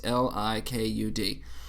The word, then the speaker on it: Likud: I think I'm pronouncing that right. Likud. It's Likud.